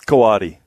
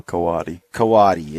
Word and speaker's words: coati: of the curious Cody coati kawase pronounce every it's kind of a I guess it's a Spanish derivation so you pronounce every syllable coati coati and it's Co ATI